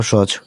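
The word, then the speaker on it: つ: এটা উচ্চারণটা হবে সু জিহ্বার আগা থেকে উচ্চারণটা আপনাদেরকে উচ্চারণ করতে হবে তো এটার কিছু গ্রামাটিক্যাল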